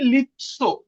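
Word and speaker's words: лицо: এরপরে দেখেন লিৎসো, লিৎসো, এটার উচ্চারণ কি লিৎসো, তীর মতন উচ্চারণ হবে লিৎসো, লিৎসো, লিৎসো।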